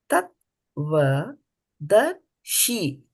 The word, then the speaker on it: तत्त्वदर्शिभिः: So here you see the letter S has got an accent on the top, so it's she. Again, it is sha as in shalyam. Sha, right here, as in Shalini.